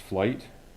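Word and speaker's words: Flygt: Okay, the second one is from, I believe this is pronounced Flight, F-L-Y-G-T.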